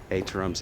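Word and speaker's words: étterem: Étterams, E-T-T-E-R-E-M, I believe is the pronunciation.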